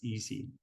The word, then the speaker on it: EESSI: little bit right so the way we pronounce that is easy so the easy environment